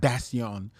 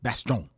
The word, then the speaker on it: Bastién: my head in like it's not bason it's Baston or Bastian you should